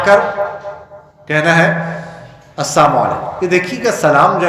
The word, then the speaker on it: السلام علیکم: ورنہ اگر السلام علیکم کہیں لام کو ختم کر دیں اس کا معنی بدل جاتا ہے. اس کا معنی ہے تم پر لعنت ہو.